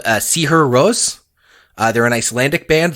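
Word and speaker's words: Sigur Rós: circles um cigar Ross if you read their name phonetically some folks might not know uh see her Rose is how you pronounce it but cigar Ross might be how you recognizable for people recognizable if you've only ever seen it written and their whole shtick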